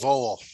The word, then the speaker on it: vole: It's pronounced vowel. Vowel. Okay. It's like the little animal that's similar to a mouse, but it's a lot bigger.